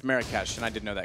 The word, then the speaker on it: Marrakesh: I pronounced it wrong. It's Marrakesh.